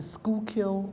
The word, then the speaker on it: Schuylkill: the word might not necessarily understand how to pronounce it in Philadelphia we call it the Schuylkill River and the Schuylkill River runs from northeast